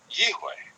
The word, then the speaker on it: Yihweh: So, in my opinion, the pronunciation of the name Yod-He Vav-He is Yihweh. I should point out why I use the W rather than a V for the letter Vav.